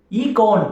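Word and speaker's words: εἰκών: Icon என்றால் என்ன அப்படின்னா, இந்த ஐகான் அப்படின்றது ஏன்ஷியன்ட் கிரீக்ல இந்த வார்த்தை எப்படி தெரியுமா ப்ரொனவுன்ஸ் பண்றாங்க? ஈகான் அப்படின்னு சொல்றாங்க. EIKON, ஈகான் அப்படின்னு சொல்றாங்க.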